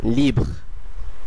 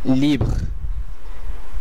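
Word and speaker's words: livre: এই শব্দটির উচ্চারণ হবে লিভ্র, লিভ্র। আপনারা নিশ্চয়ই খেয়াল করছেন যে শেষের উচ্চারণ হচ্ছে না। আমি এটি আরেকবার উচ্চারণ করে দেখাচ্ছি, লিভ্র যার অর্থ মুক্ত এবং এর বাংলা কাছাকাছি উচ্চারণ লিভ্র।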